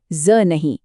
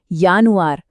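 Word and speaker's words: Juni: हमेशा याद रखिए जर्मन में जे की आवाज य होती है ज नहीं तो यह जानुआर नहीं है यह है यानुआर जूनी नहीं यूनी बस इस एक नियम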